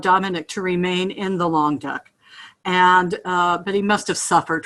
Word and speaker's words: Languedoc: I think long duck, but it's the Languedoc.